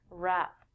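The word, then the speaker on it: wrap: it overpowers it we don't say the w when we say this word rap there are two meanings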